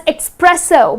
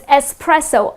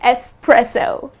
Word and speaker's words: espresso: to say it as expresso but it's not expresso it doesn't have X in dispelling neither it's pronounced as expresso the correct pronunciation is just the way it is spelled it's espresso I'll have a shot